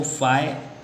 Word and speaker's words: phi: तो आपको याद रखना है इसको, फाई ऐसे PHI फाई ऐसे समझ सकते हो प्रोनाउंसिएशन।